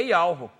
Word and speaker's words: Yahweh: Que o nome, eles botam até aqui, que o nome com os maçoretos, com as vogais corretas para pronunciar, é Yahweh.